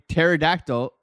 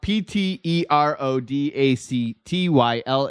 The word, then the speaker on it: pterodactyl: impossible to hear a pterodactyl going to the bathroom because the p is silent the P the p is silent and if you know PT e r o d a c t y l is how you spell